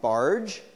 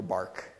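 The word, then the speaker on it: Bargh: on automaticity um and his name is pronounced barge not bar um or bark uh and so what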